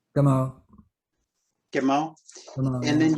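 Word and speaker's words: Gameau: When you the person that wrote the afterword, Damon, how do you pronounce Damon's last name? Gamo.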